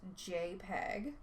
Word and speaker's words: JPEG: Now, the JPEG, which stands for Joint Photographic Experts Group, pronounced JPEG, is a compression format that makes images into much smaller files.